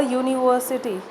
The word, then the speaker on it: university: Because when we pronounce university, it's not the sound of U that comes out. The sound of U comes out. University. Y is the sound that is being produced here.